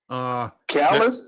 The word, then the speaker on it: Callous: Callis? Yeah, Callis. Yeah, Callis. But it was spelled differently, though. It's spelled Callous, not the way Nick Callis' name is spelled.